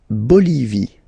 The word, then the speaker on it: Bolivie: La Bolivie. Okay, final E not pronounced.